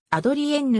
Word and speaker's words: Adrienne: カナダ総督エイドリアンは本人が母語とする英語での発音でもう一つの公用語富津語での発音ではアドリエンヌに近いものとなる香港系カナダ人で